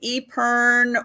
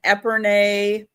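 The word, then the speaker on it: epergne: Now, Fenton makes um either call it an Eper or an Epern depending on how you like to pronounce the word.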